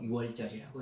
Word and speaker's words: 유월절: 그래서 흐를 유자, 넘을 월자 해서 유월절이라고 해요. 6월달이어서 그런 거 아닙니다. 6월절이라고 발음하시는 분도 계시던데 아니요, 6월달이 아니라 흐를 유자, 넘을 월자입니다.